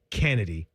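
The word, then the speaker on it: Khynneddi: Kennedy.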